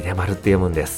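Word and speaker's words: 秀丸: On pourrait croire que ça se prononce « Shuen » d'après les kanjis, mais contre toute attente, on dit « Hidemaru ».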